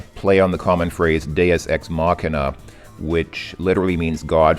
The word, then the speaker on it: Deus Ex: So, So welcome to Deus Ex, which I used to pronounce Deus Ex.